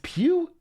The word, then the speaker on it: Pugh: It's not, it's Pugh? Like Pepe Le Pew?